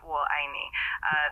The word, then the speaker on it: 我爱你: It's pronounced 我爱你. The 我 sounds like whoa in English with a slightly rising tone, and I is a sharp falling tone, and me is a rising tone.